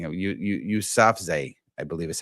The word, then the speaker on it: Yousafzai: And let me tell you a little bit about it's Malala Yousafzai. I think I might be saying it. Yousafzai, I believe is how it's pronounced.